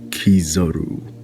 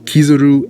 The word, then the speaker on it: Kizaru: Now, I have seen his name pronounced two ways, Kizaru and Kizaru. I'll be honest here, mostly I call him Kizaru, but I thought for the intro I would say Kizaru.